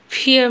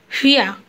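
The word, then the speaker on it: wer: আমরা সবাই আগেই দেখেছি যে ডাব্লুর উচ্চারণ সবসময় ফিয়ের মতো হয়, তো সে ব্যাপারটা মনে রাখতে হবে। এখানে ফান ফান মানে হচ্ছে হোয়েন, বাংলায় যেটা আমরা বলি যে কেন। ফিয়া ফিয়া মানে হচ্ছে হু,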